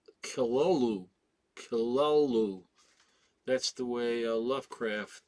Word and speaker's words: Cthulhu: We all pronounce it Cthulhu, but it's actually pronounced Kilolu.